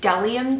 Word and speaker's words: Bdellium: brushes I'm reviewing for you today are the Dell iam tools people often pronounced on bdellium it's actually W my beat is silent I